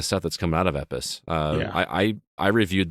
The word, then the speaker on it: EPOS: second edition it is from epis which is spelled epos if you are into